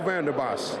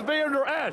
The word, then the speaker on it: Vander Esch: But hey, go Vander Bosch. Vander Bosch. His name is Vander Esch.